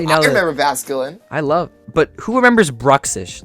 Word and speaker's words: Bruxish: It's called Bruxish. Do you hear me? Bruxish. I can't even pronounce it.